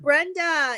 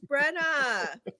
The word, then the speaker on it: Brena: and I'd be like it's not Brenda it's Brena see look how how proper